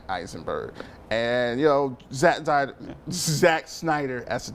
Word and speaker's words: Eisenberg: Jesse Heisenberg. I know it's Eisenberg.